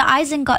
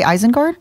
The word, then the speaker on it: Isengard: The hobbits are going to Isengard.